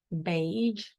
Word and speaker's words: beige: The color, beige, B-A, beige.